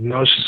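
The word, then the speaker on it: Gnosis: type in nosis onward nosis is spelled GN o s i s and your website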